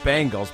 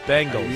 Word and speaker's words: Bengals: Until Chris can prove his ability to pronounce the Bengals correctly and not as the Bangles, please suspend Chris Simms without pay. Damn, you want to suspend me? I'll try to work on it. Bengals.